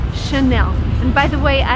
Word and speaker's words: Chanel: just behind me and the right way to pronounce it is again in French because it's from friends so the correct way to say this word is Chanel and by the way